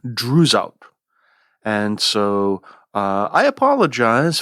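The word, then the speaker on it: Droeshout: in this podcast incorrectly I think I've been pronouncing it drout and uh I just checked with the folder Shakespeare Library and I think the more correct pronunciation should be Drew out and so uh I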